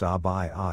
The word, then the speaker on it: abaya: Pronounced abaya, it is a long-sleeved, loose-fitting robe usually worn over other clothing by women in parts of the Middle East and Africa.